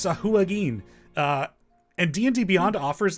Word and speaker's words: Sahuagin: I made sure to look up the pronunciation of the fish people. Apparently, it's Sahuagin.